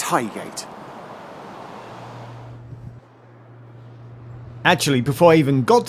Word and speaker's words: Highgate: onboard announcer on the Northern Lang stock trains pronounced it more like hiot rather than Highgate the next station is Highgate Highgate station actually